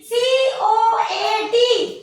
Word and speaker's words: coat: तो जैसे कि दो कॉन्सोनेंट के बीच में ओ पहले ओ फिर ए, COAT कोट, BOAT बोट, GOAT गोट होता है ना ऐसा?